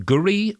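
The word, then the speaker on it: K'gari: island saying it, and they say it more like Gari.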